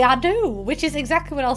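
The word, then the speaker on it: Ado: And I made me and a man called Billy with the last name A-D-O. Because phonetically, that's Billy I do.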